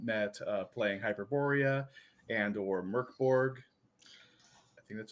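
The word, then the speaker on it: Mörk Borg: we had all met, uh, playing Hyperoreia andor Merkborg. I think that's how it's pronounced.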